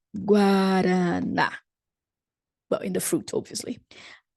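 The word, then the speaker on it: guaraná: don't say that but we may pronounce it when it is combined with an a liking our one of our brazilian's best soft drinks guarana but in the fruit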